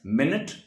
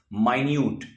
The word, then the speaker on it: minute: But the first one is pronounced as minute, while the other is pronounced as minute.